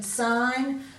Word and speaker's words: sign: we're going on to the silent G in sign design assigned NAT Nome and gnarly so you've already looked